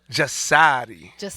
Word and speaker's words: JASARI: Oh, I said it pronounced wrong? Yeah. Correct me. No, JASARI. I have to say like that. JASARI.